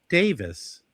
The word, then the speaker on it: Davies: It's not pronounced Davies here. I said, "I'm in the US. We pronounce it correctly." Mazie goes, "Apparently not." Then the guy goes, "No, you don't. Ray Davies pronounced Davis is British."